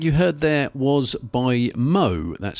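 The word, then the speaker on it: Mho: So, the first track you heard there was by Mo. That's spelled M H O.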